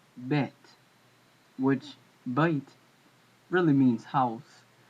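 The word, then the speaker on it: בית: According to the Hebrew Research Center, the Ancient Hebrew Research Center, this letter is not bite, as in modern Hebrew, but it's actually bet, which bite really means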